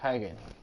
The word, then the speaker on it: Hagen: Ah, ya, se pronuncia así, Hagen. Yo pensaba que pronuncia con K.